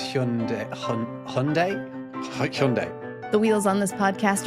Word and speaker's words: Hyundai: And how do you actually pronounce Hyundai? Hyundai.